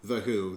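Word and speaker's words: The Hu: Mine is, it's spelled H-U, The Who.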